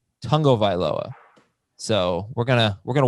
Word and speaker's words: Tagovailoa: his last name right there is a sneaky n in there even though it's not in the actual spelling it's tongo viloa tungo viloa so we're gonna we're